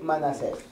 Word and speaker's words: Manasés: por orden del Rey Manasés es muy importante Quién dio la orden mire por orden de con acento en la e por orden de El rey Manasés estos datos son muy